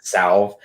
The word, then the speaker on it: salve: Don't you like the word salve? Salve. I totally. Salve. Is it salve? Yeah, the L is silent.